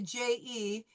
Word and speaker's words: je: And I want you to remember when we use the JE is je. Okay? So not Yeah. a hard J, it's a je.